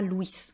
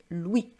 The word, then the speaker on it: Louis: il s'appelle Louis et vous voyez qu'on ne prononce pas la dernière consonne on dit pas Louis on dit Louis alors on a aussi